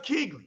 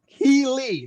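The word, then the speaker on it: Keighley: some wounds so now jeff keegley right keely like wiggly female dude right quarry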